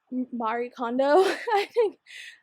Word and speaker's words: Marie Kondo: tidying up my office and kind of like Marie Kondo.